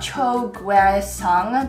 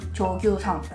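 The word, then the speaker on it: Cho Gue-sung: By the way you pronounce his name properly is not Cho Gue Sung, that's how it's spelled out, but Cho Gue Sung. Cho Gue Sung.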